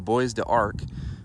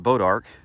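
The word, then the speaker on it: Bois d'Arc: was saying it wrong y'all I was saying boys to Arc but I looked it up and it's actually pronounced bodark the bodark trail is really fun um after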